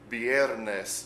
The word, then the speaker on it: viernes: Viernes. V-I-E-R-N-E-S. Viernes. Notice that the B, the letter B and the letter V make a similar sound. It's kind of in between of the two letters.